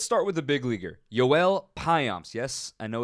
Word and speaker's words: Joel Payamps: let's start with the big Leaguer Joel pyomps yes I know it's spelled Joel according to the official pronunciation guide It's Joel pyomps and Dominican right-hander is 28 years old he